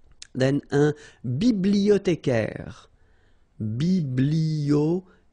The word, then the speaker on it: bibliothécaire: Then un bibliothécaire. Bibliothé. Remember in French the H doesn't exist, so you don't pronounce it.